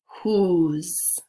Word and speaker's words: whose: w-h-o l-e number three which word sounds like whoo plus Z whose so look for the